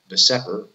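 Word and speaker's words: VSEPR: And here we're going to use what is known as Vesper, sometimes just pronounced Vesper theory, to predict the shapes of covalently bonded.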